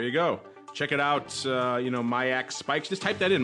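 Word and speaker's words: MIAX: Check it out, MyAX Spikes. Just type that in, MyAX, M-I-A-X, and Spikes. Just spelled like you think it is, into your search engine, and you'll get taken to that.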